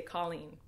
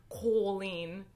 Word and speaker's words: Colleen: You say Colleen. But my family and my name, like how it is pronounced, is Colleen. And it's not Colleen. It's Colleen. Like Colleen. Like well, how like Irish people say it.